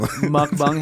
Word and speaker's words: mukbang: Mukbang, hey. The way you say it, mukbang. I didn't realize I was saying it weird. No, I think that that's definitely the right way to say it if you're saying it.